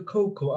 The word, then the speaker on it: cocoa: I was going to make a cocoa out of this canned milk I got here. 코코라고 읽지만 사실 우리는 코코아라고 합니다.